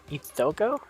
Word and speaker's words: Hisoka: Ithoko? Hisoka. Oh, Hisoka. Oh, yeah. Okay. I pronounce it Hisoka.